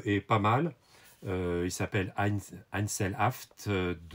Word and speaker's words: Einzelhaft: Il s'appelle Einzelhaft. Je vous prononce à l'allemande.